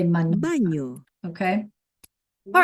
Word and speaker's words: baño: mañana, But then when we add the squiggly, right, the tilde, that's when it becomes like a NY, like canyon. Nya, nya, nya. Okay, so let's listen. señor, baño, niña, Okay, so once